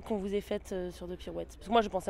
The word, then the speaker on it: The Pirouettes: The Pirouettes. Quelle est la pire prononciation que vous ayez entendue? Ce qui est très énervant, c'est quand les gens oublient le S, genre The Pirouette.